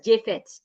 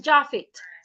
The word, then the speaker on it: Jaffet: Jaffet, I hope you don't pronounce your name as Jafet. Your name is Jaffet.